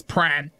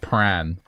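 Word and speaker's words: Prahran: moo got it okay the answer to my own is pran it's just Pratt it's very Aussie it's just pran pran you just remove the h r a pran yeah Paran o listen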